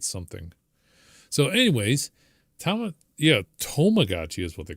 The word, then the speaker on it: Tamagotchi: So, anyways, to Yeah, tomagotchi is what they call it.